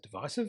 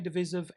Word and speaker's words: divisive: Well, I pronounce it divisive and some say divisive, and I'm absolutely fine either way.